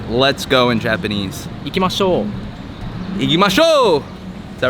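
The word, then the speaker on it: 行きましょう: Ikimashou.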